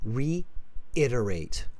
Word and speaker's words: reiterate: reiterate yes okay just pronounce it after me reiterate reiterate okay reiterate like rate someone reiterate reiterate okay much